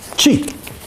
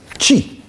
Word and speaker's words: Qi: Vous voyez, la manière dont ça se prononce n'est pas anodine. Chi. Je ne tiens pas compte des tons, je ne connais pas bien. Chi. Voilà, c'est-à-dire déjà le ch.